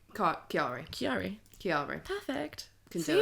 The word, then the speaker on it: Chiari: You don't elongate the syllables that much, Sorry. but Chiari. Chiari.